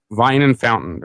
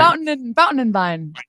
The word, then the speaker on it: Fountain and Vine: Vine and Fountain. I said it. Did I say it right? Fountain and Vine.